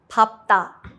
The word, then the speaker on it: 밟다: Note, there is an exception. 밟다. This is pronounced with the second consonant.